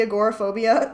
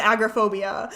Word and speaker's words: agoraphobia: just bsing about the agoraphobia why didn't you guys call me out for calling it agrophobia nobody said anything I